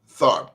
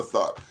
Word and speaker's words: Tharpe: in 1915, and her name was Sister Rosetta Tharpe. Oh, really? Yeah. She's known as the mother of rock and roll, the godmother of rock and roll. I didn't know that. Rosetta Parks? Tharpe, T as in Tom, Oh.